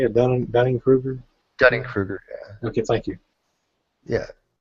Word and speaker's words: Dunning-Kruger: Dunning-Kruger, yeah.